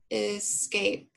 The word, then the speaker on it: escape: and mark our vowels escape escape is more of a schwa sound okay and then this is our long a with our silent e put the arrow back